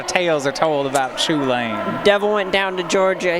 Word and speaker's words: Chulane: I believe, if you're familiar with the card, I believe the CH is like a guttural, almost like Scottish sound. Okay. Like in Loch. Okay.